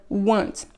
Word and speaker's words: weren't: Faites attention, la prononciation de were not en forme contractée, ça donne weren't.